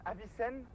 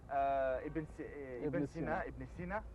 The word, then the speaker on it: Ibn Sina: Avicenne, Ibn Sina, en prononciation arabe, oui.